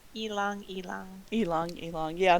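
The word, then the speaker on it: ylang-ylang: that I looked I looked up how to pronounced y l a n g y l a n g it's Elon elong elong elong yeah not y Lang y Lang oh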